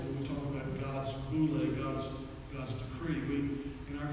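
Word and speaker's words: βουλή: One is the word we would pronounce it boule, B-O-U-L-E. If you transliterate it, spell it out, it's boule.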